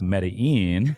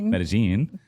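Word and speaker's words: Medellín: of the listeners might be thinking oh it's pronounced medine it's metagene and uh anyhow so I'm there hanging out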